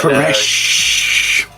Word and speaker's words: Koresh: And, Koresh. David, you pronounce it like the last dying breath of a man.